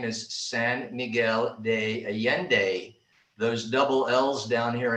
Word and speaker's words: San Miguel de Allende: the city name is san miguel de allende those double l's down here in mexico alfonso can chime in those double l's down here are pronounced like a y so it's always a